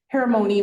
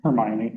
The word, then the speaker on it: Hermione: And I know again we're talking um I've got um Hermon, right? Hermione.